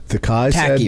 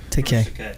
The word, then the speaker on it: Takei: Tacky, right? What's the how you say it? Takei. George Takei. Takai said the part about the $20, right?